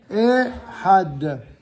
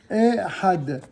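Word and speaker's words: אחד: Ensuite, vous avez le chiffre 1 qui se dit Ehad. Ehad. Voilà. Ensuite, vous avez la ligne numéro 5. Oh, faites attention. Pour la prononciation de ce mot, je vous invite à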